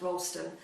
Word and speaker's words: Rolleston: thing too is that rolliston the E is silent so it's actually pronounced Rolston but we've obviously uh